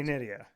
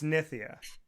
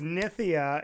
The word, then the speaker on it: Nitya: So, most people say Nidia. No, everybody says Nidia and everybody. So, but it's Nithia.